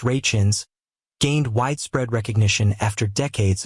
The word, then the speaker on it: Rachins: For his parts on the two shows, Mr. Rakins, pronounced Rachins, gained widespread recognition after decades of trying to make a name for himself as an actor.